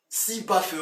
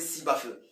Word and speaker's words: Sibafeu: Sibafeu, on le prononce, on dit rapidement, de façon francisée, Sibafeu.